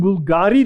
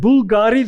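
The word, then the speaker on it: Bvlgari: Think for instance at the uh the perfume Bulgari that many women will know that Bulgari the second uh character it's pronounced u but it is actually written as a V that has a value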